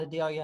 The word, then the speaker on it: Adela: We all call it Adelia in Ludlow, although it's spelled Adela.